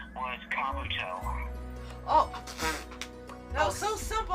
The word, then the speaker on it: Kabuto: His name was Kabuto. Oh. That was so simple. How could we? It's like Naruto. It rhymes. Kabuto.